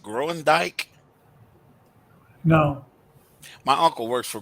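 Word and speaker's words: Groendyke: called I think yeah I think you pronounce it growing Dyke no my uncle works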